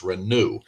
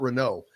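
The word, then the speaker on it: Reneau: got to keep his it's renew not Renault yeah and I said Renault probably up until like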